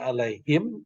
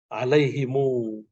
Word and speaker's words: عليهم: Ya, kita bacanya alaihim itu bacaan Hafiz. Nah, kalau bacaan Ibnu Katsir alaihimu. Semua yang alaihim itu pakai mimnya hidup. Hidupnya mimnya dibaca dhammah panjang ya.